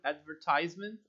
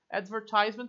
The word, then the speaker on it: advertisement: Listen to two different forms of pronouncing the word advertisement and repeat. Advertisement também pode ser pronunciado de outro jeito.